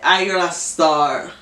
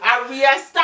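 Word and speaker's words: Ayra Starr: your My song is Comas by Ayra Star. At least you say her name right. When I was listening to it, they were Aria Star.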